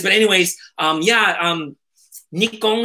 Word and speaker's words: Nikon: anyways um yeah um nikkong is the proper pronunciation it's a shortened form for the official name if you ever look up wiki or something it's like nippon kogaku something something just means japanese heavy industries or something like that and so